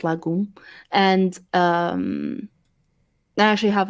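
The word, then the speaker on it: Lagum: there's not dancing it's Lagoon so it's l-a-g-u-m but pronounced Lagoon and um I actually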